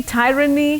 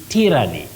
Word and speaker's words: tyranny: or on that word you say t tyranny not tyranny we have the person called a tyrant a tyrant so and